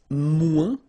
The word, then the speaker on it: moins: Then if you want to say less, it's moins in French, so no discussion about the S here, don't pronounce it, okay?